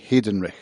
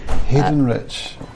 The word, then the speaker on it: Heydenrych: the interview with haydenrich so i'm sitting with hayden rush hayden rick almost yeah so i pronounce it hayden rich hidden rich but carl's mother pronounces it hayden wreck so i i'm free